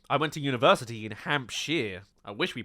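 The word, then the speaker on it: Hampshire: I went to university in hampshar. I wish we pronounced it hamshshire.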